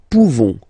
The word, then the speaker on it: pouvons: Okay, nous pouvons. Nous pouvons. Okay, you don't pronounce the final S.